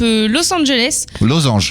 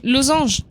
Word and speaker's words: Losange: Oui, à l'Otari, à partir de 19h jusqu'à 20h, on a le groupe Los Angeles. Losange. Ok, Losange. Décidément, donc, dans les prononciations là.